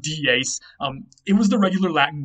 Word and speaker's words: dies: It looks like the English word dies, but that's not what it is, and that's not how it's pronounced. It was pronounced dies.